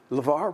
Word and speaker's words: LeVar: Lavar Lavar shorten it Lavar rhymes with star how about that that's